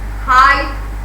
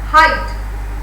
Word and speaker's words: height: But in the second cloud, you can say delight, height, light. See, delight, height, light, or fight. GH has no voice or no sound. It is silent.